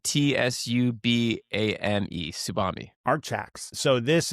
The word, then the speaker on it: Tsubame: Subami, how do you say that? Do you know how to say that? Subami Industries. Tsubame, T-S-U-B-A-M-E, Tsubame.